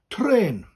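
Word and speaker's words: trên: train that's better train so it's t r e which is a little upside down v on top which we call a tour and that just elongates the letter and then and then train okay now we have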